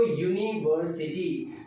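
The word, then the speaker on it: university: नहीं, यूनिवर्सिटी word जब आप प्रोनाउंस करते हो तो उसका जो साउंड बनता है वो यू से बनता है. आप बोलते हो यूनिवर्सिटी, तो आप यू का साउंड निकालते हो.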